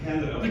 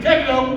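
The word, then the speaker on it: DeCandido: On some occasions like this, I have to say one very important thing, which is that it's pronounced DiCandido. DiCandido!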